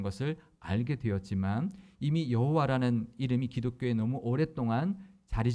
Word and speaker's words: 여호와: 그러니까 하나님의 이름 만약에 여호와라면 이응, 히읗, 이응만 기록되어 있고 읽을 때 그냥